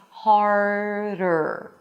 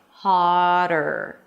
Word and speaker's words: harder: If you skip the R here, it's going to sound like hotter.